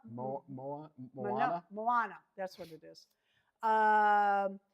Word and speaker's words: Moana: Monoa. Moa Moana. Moana.